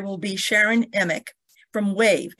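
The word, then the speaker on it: WAHVE: Our first speaker will be Sharon Emick from WAVE, and that's spelled W-A-H-V-E, which is a great anachronism for Work at Home Vintage Experts.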